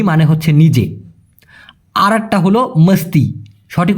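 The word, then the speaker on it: mesti: আরেকটা হল মস্তি। সঠিক উচ্চারণটা হলো মিষ্টি না ভাই মস্তি মস্তি মানে হচ্ছে অবশ্যই আমি নিজে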